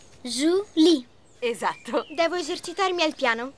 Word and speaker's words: Julie: Potreste esercitarvi un po' nella pronuncia del mio nome. Julie. Julie.